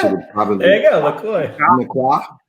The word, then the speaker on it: LaCroix: Jordan, how do you pronounce that brand? I think it's LaCroix. Real French would probably. There you go, LaCroix.